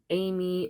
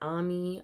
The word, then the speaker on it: Ami: Caro, Tamara, Amy, or Ami. I've heard her pronounce her name that way.